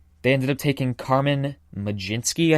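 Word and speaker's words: Mlodzinski: ended up taking Carmen lijinsky I think is how you pronounce it not spelled like McGinty obviously but I think that's how it's pronounced a pitcher with their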